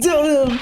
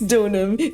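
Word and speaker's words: Deauxnim: That's Donum! Larice Donum!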